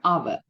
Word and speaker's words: hour: The word begins with the silent h and sounds like a vowel. So the answer is an an hour.